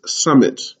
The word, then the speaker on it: summit: in english for instance summit right where you have the double m and you pronounce both m's sum mit right and so